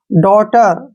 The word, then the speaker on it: daughter: अब इसमें भी GH आया है तो ये साइलेंट रहेगा, डॉटर, ठीक है ना।